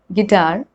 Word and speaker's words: guitar: is silent letter u u is not pronounced when it comes after g and before a vowel like in these examples guess guest guild guilty guitar guide guidance guard and